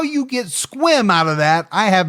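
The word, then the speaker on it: Sequim: But how you pronounce that area is actually squim.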